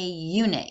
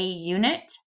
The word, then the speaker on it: unit: So some examples of when you use either one: a pilot, a unit. Here, U in unit makes a Y sound, so it's considered a consonant, so we say a unit, and a hat, because we're pronouncing the H.